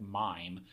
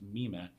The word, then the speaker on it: Mime: The role of mime, it looks like mime, but it's actually pronounced mime.